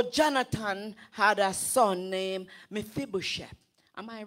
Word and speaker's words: Mephibosheth: And so Jonathan had a son named Mephibosheth. Am I pronouncing it right? Yes. Mephibosheth.